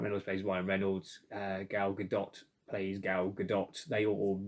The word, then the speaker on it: Gal Gadot: uh gadot i believe i usually pronounce the name girl godot but um my daughter assures me it's actually pronounced gal gadot so we'll go with